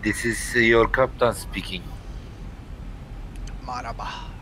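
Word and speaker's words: مرحبا: Marhaba. How do you say that? Marhaba.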